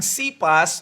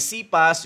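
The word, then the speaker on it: Cephas: Ang sipas or separehas lang yun. Ah sa pronunciation lang. K pa ang yung ibaung iba naman ay cpas, yung iba ay sepas. Yun naman ay aramaic name.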